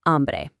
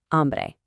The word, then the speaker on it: hambre: And I am hungry is tengo hambre. Watch out for that silent H again. Tengo hambre.